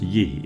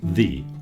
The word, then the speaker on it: ye: So it was never pronounced ye, it was pronounced the always.